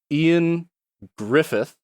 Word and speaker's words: Ioan Gruffudd: Ioan Gruffudd, I believe is how you pronounce his name, even though it's spelled in a very different way.